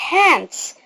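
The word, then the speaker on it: hands: ايدينا كده فنقول شيك هانس شيك هانز خلي بالك لما بتيجي تقول هانس مش بتوضح قوي الدي مش هنوضحها في النطق الاس ايتش بتدينا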